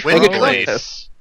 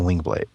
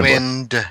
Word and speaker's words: Windblade: I keep saying Wingblade. Is it Wingblade or Windblade? Wind. Okay.